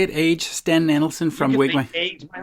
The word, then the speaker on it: Åge Sten Nielsen: But my name is Åge Sten Nielsen. That's how it's pronounced. Åge Sten.